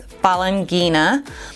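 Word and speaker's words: Falanghina: So if you want to pronounce it, it's Falangina.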